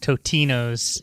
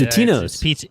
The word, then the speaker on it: Totino's: It's pronounced Totino's. And, it's Totino's.